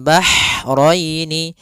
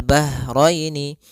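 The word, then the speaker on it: بحرين: dan dibaca dengan jelas kemudian bahraini Ha ini Hnya H kecil hati-hati jangan terbaca dengan ha besar jangan marjal bahraini ya kan karena dia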